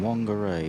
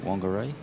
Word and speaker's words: Whangarei: Whangarei and Whakatane, as it's pronounced. It's a WH, but they actually pronounce it with the F, the traditional.